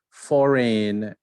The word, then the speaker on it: foreign: Foreign, you don't speak the G.